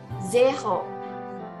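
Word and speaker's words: zéro: jangan sampai tertukar nih kita bunyikan dengan Zero ya jeho Hei jadi idenya itu eh banget ya J kemudian depannya juga Z bunyinya jadi jelas ya zakho hei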